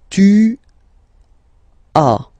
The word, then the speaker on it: tu as: Second one, tu as, okay? As usual in French, final S is not pronounced.